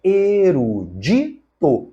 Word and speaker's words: erudito: letra D não foi o correto é erudito a palavra é paroxítona assim como devemos falar